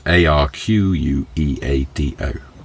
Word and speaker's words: arqueado: That trend is called arqueado, which is ARQUEADO. But Eric has very kindly given me a pronunciation code there, arqueado, and consists of lifting the back of the truck.